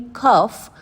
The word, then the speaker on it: cough: In spite of a nagging कफ, अब यहाँ पर OUGH इज सेइंग ऑफ.